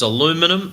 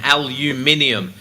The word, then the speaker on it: aluminium: It's aluminum in the States and aluminium in the UK.